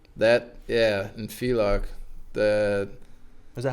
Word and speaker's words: Villach: That was nice because in Villachia. In Villach, Was that how you pronounce it?